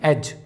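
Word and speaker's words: edge: इसे एड्ज नहीं पढ़ेंगे, इसे पढ़ेंगे हम एज, इसका मतलब होता है किनारा।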